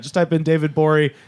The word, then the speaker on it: Gborie: just I've been David bori its GBO rie the G is silent go find David Bowie